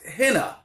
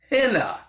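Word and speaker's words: ḥnꜥ: ancient Egyptian language of the end is this pronounced henna henna so he would start with an H here's our H it's either a twine a rope or a hemp louder and then a in henna would be a water wave and then we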